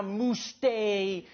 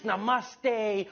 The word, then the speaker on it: namaste: dude it's not now mooste it's namaste who messes up namaste this isn't a mousse day but to those Indians